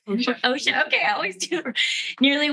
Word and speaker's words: OSHA: So, according to um I always mispronounce this. Is it OSHA, Mary or Asha? OSHA.